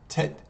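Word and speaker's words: טית: And the next letter we have is Tet, which is the T sound. And Tet in English is spelled T-E-T. In Hebrew, Tet, Yud, Taf.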